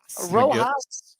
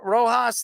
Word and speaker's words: Rojas: How do you pronounce his name? Rojas. Yeah, Rojas, the Dodgers' nine hitter, an ace fielding second